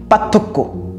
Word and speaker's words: পার্থক্য: এই যে আমি পার্থক্য বললাম, এখানে অনেক সময় ক্রমাগত কথা বলতে গিয়ে র ফলাটা আমি যোগ করতে ভুলে যাই, পার্থক্য।